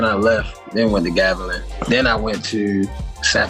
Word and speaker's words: Gavilan: you on the Hold on, what's the right pronunciation for your college? Gavian, right? You said who? See? The college that you went. Yo, it's Gavilan.